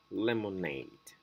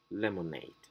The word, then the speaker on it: lemonade: stress suffixes for example the word lemonade the stress goes on the suffix aid lemonade crusade arcade for worse